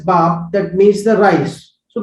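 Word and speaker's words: 밥: This is a Korean word which is pronounced as bap, that means the rice.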